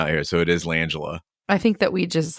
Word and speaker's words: Langella: Frank Langella.